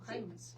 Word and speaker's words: Jaimes: Sí lo pronuncié bien, ¿no? Jaimes.